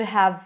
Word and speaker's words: have: I want you to reduce that you could have fitted to you could have fitted. You could have fitted. You could have fitted. So I don't actually pronounce the V of the have.